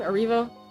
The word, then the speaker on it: Erivo: How do you pronounce her last name? Erivo.